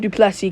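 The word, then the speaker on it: Du Plessis: tildrick is duplessy Neil I call him duplessy because that's correctly that's how you correct you really say his name duplessy I don't know why he has an extra s there but trick is duplessy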